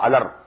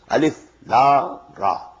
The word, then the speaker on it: Alif Lam Ra: These are pronounced separately, and so they are the broken into pieces. Not pronounced as Alif Lam Mim Alam. No. Alif Lam Mim. Alif Lam Ra Alar. No. Alif Lam Ra.